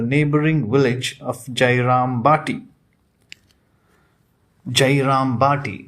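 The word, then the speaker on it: Jayrambati: village of jairam bhati jairam bhati it is pronounced as jairam party unaffected by the marriage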